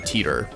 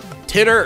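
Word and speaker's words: Titor: Also, you guys said it, I think it's pronounced John Teeter, which I knew was like, it was either Titter or Teeter. So Teeter. Makes sense.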